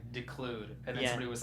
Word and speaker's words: declude: Pronounce the De. It's declude, not I wish I declude.